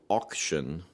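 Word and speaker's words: Auktyon: Well, there is one band called Auction and it's spelled A U K T Y O N and they are fun.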